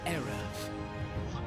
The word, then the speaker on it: Erev: What remained of her power became the great protector, Empress Erev. That's how you pronounce it.